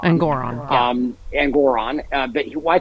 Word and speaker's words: Engoron: uh at sorry I I always mispronounce his name it's actually engoron engoron um and Goron but